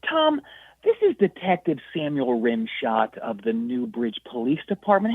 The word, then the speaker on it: Rimshodt: your name again uh Samuel rimshot it's it's spelled r i m s h o DT okay that's uh because it was like Rim shot like a like a rim shot on a drum set but that's a